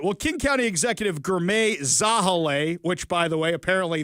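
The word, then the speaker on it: Girmay Zahilay: Well, King County Executive Ger Zahale, which by the way, apparently that's the correct correct pronunciation for that one, along with other officials,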